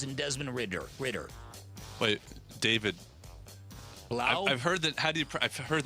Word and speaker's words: David Blau: Wait, David Blau? I've heard that. I've heard the name, but how do you pronounce it? As in cough. Okay, gotcha. I don't know that one. Blau like cow. Blau like Everybody cow.